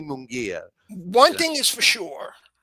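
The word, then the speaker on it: Munguía: And I Yeah, kept calling him Mungaya.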